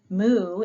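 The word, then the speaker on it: μ: And then mu is looks like an upside down M or some sort, but you pronounce it the same. You just have to get used to seeing a little U kind of letter and pronouncing it mm.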